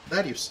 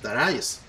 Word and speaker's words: Darius: que esto más bien no se debería pronunciar darius se debería pronunciar dará yes para ayuda pero bueno